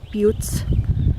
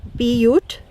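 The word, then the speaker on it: butte: some educational information on butes most importantly pronounced beute not but but is a French word that means small hill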